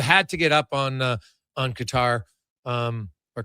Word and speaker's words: Qatar: You had to get up on Qatar or Qatar. Depends how you want to pronounce it. I think Qatar is the actual right way to say it, but either way, that is obviously a huge goal for Canada.